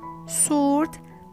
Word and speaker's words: sword: It's silent after the fricative S in some words.